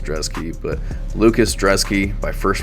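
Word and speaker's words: Brzeski: Still don't understand why it's pronounced Drezky, but Lucas Drezky by first round KO.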